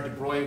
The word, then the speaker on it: de Broglie: Uh, it doesn't look like it's pronounced de Bruy, but I think that's the right pronunciation.